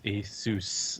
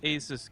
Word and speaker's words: Asus: Oh lord, there's a considerable amount of Americans tweeting at me that it's Asus, like Dr. Seuss, like Asus.